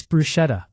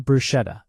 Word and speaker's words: bruschetta: It's bruschetta, Maryanne. Not bruschetta or comments about my clothes.